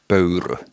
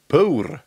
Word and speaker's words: Pöyry: It's the Finnish pronouncing is Pöyry. Pöyry. Pöyry. There's a Y in the end.